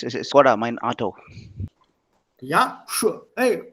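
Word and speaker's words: Škoda: Ah, There's a mark on the S. mhm. On top of the S, there is this mark. You know, the accent mark. It's a sh, Skoda. Skoda. Ah, okay. Oh, it's Czech alphabet then. Yeah, yeah. Just check. On that S, there'll be a small marking there, accent marker. That makes it sh, Skoda.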